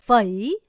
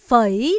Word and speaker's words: phẩy: 그럼 쉼표를 뭐라고 읽냐? 바로 요렇게 읽습니다. phẩy. 한 번 더 읽어볼까요? phẩy 라고 읽습니다.